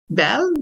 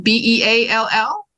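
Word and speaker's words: Beall: Bel. B E A L L. That's right. It It looks like be all, but it's You said it right.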